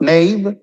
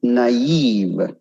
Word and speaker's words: naive: It's not naive, it's naive. Naive. Athlete, athlete.